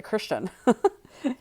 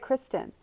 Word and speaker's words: Kristen: He said it right. He didn't say Christian. He said, Kristen, you get in life.